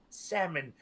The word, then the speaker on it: salmon: It's salmon with a silent L.